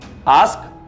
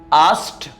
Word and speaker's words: asked: sound at the end so you should be pronouncing this word as asked asked asked okay so regular verbs are very much